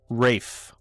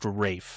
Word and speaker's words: Ralph: Rafe. Rafe. Yeah, it's a it's a English thing. So, it's it's spelled Ralph, but it's pronounced Rafe. So, like like R A F E.